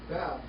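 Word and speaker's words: וו: But the oldest pronunciation of this letter is with a W, not a V. All right? All right? It's wow, wow like in way.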